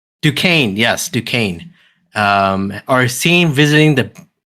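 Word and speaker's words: Duquesne: Um and another part of the town, Rupert Thorne and Carlton, how do you how do you guys pronounce his last name? Dukane. Dukane. Yes, Dukane.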